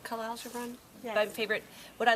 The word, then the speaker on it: Khalil Gibran: How do you say, is it Khalil Gibran? Khalil Gibran?